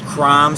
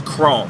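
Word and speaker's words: Krome: i know i said crom some people pronounce it crom but it is chrome k k-r-o-m-e and there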